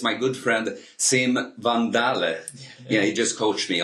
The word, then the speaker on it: Van Daele: face to face it's my good friend sim van dale yeah he just coached me on the pronunciation i've said a van dale all the